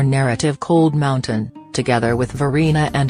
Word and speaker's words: Varina: Frazier, a native North Carolinian, employs both but begins his story with 2 from history, Varina, pronounced Varina, and a mixed-race man,